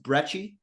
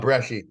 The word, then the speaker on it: Bresci: And your last name is pronounced Brecci. Is that accurate? Bresci. Bresci. Bresci? So you don't even say the C, just pretty much Bresci. just go SH with it.